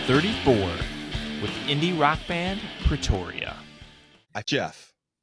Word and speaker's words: Pretoria: How many different ways have you heard your band name pronounced? Mostly just two. Pretoria. Oh, okay. Yeah, Okay, so it's really emphasize the E, Pretoria. Yeah. Which I don't know. Proteria.